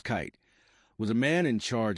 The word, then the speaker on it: Keith: Max Keith, pronounced Kite, was a man in charge of Coca-Cola GmbH in Germany.